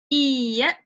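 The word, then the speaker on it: いいえ: Iye. Iye, that means no. Iye, and you see there's like a double I in the spelling. You pronounce it iye.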